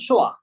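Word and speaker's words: schwa: সো it's called শোয়া। So what is it called? It is called শোয়া।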